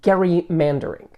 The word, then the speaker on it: gerrymandering: pronunciation of this word it was probably intended to be pronounced Gary mandering as will be discussed in the history shortly but this has evolved to where most of the world pronounces it with the J sound I will go with the Hardy throughout the video but I wanted to acknowledge the debate let's begin by examining